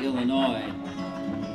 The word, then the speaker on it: Illinois: be to come to illinois and of course they wanted people to learn how to say the name of our state so they spelled it right out in the book e-l-a-n-o-y illinois your chorus oh move